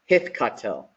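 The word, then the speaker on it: הִתְקַטֵּל: And then the way that we read this, oh, and also I totally forgot, is we got that doggish forte in there. And the way that we read this is hithkatel, okay?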